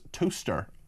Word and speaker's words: Towcester: Pronounce toaster, as in you put the bread in and the bread comes up on it. It's pronounced toaster.